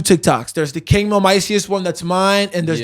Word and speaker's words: Kingmil Miceus: Nobody knows how to say it or spell it. Yeah. But it's Kingmil Miceus, literally everywhere.